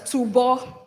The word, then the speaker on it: Tubo: It's actually pronounced as Tubo.